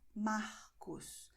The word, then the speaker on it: Marcos: But I pronounce Marcos tarde with the tip of my tongue, not with my throat.